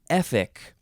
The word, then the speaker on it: Efik: the first one is epic capital e f i k it is uh spelled exactly like it is pronounced epic noun from 1849